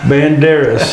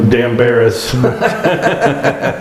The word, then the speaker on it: Banderas: yeah and you know Banderas I mispronounced it it was great yeah I said Antonio dambaris but I don't expect